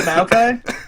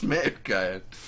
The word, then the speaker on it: Maokai: Yeah, it's pronounced Maokai. It's Maokai.